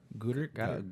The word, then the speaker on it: Goedert: Am I pronouncing that right? Goddard. Goddard. I think it's Goddard.